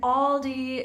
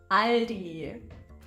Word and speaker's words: Aldi: discount retailer in Germany after learning that a is a in German Aldi is not how this brand is going to be pronounced it's Ali Aldi a German Discount Store